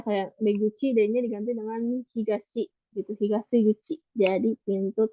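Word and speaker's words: 東: Higashi. Higashi untuk cara bacanya ada dua, higashi dan to.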